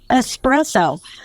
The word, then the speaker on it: espresso: how you pronounce it there's no X it's right espresso you know I called